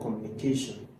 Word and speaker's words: communication: So the stress for communication is always on the communication. Communication is always on the third syllable.